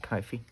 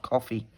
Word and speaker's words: Ko-fi: I think it's pronounced Ko-fi. I'm sure it's not coffee. It feels strange when I say I've got a coffee shop. So it's Ko-fi.